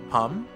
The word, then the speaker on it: Pom: Pom rhymes with plum, so it's like pum.